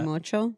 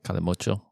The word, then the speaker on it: Calimocho: can you give us a pronunciation? of that? Calimocho. Calimocho.